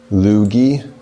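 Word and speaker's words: LEWG: it you see that it says pronounced loogie really and like that's just terrible yeah and now I'm gonna continue saying le WG yes and now having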